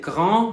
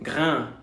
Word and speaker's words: grand: entre estas, es que la A sí se va a pronunciar A. Va a ser una A nasal. En lugar de decir grand, vamos a decir grain.